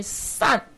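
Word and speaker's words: 墠: 那个除土曰善，这个字不能够念成单，这个除土称为善，善就是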